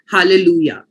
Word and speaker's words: hallelujah: also the same for hallelujah so hallelujah's spelling has a j at the end but it is pronounced as a yo hallelujah okay so let's just